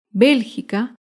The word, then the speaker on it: Bélgica: es la palabra bélgica bélgica se acentúa en la antepenúltima sílaba bélgica por último otro ejemplo